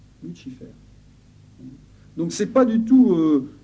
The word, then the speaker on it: Lucifer: C'est le nom tel qu'il se prononce en réalité. Pas Lucifer, on dit Lucifer. Lucifer.